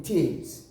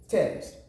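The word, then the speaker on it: Thames: called text terms yes it is not going to be taste we rather call it terms we have many more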